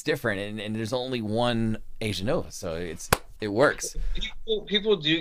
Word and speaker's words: Aeganova: It's different, and there's only one Aeganova, so it works. People do get mixed up. Like I had some buddies. They're like, "Oh, how's your band Aeganova doing?" I said, "Aeganova."